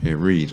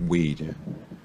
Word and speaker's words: read: day you know every day read yeah yeah read not weed and again we're mixing up here brown bear